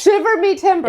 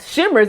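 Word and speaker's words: shiver me timbers: It's shivers. It's shiver me timber. It shivers me timber. It's not shimmers. It's shivers.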